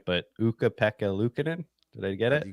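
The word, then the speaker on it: Pekka Luukkonen: I can never say his name right but peka Lucin did I get it you got it you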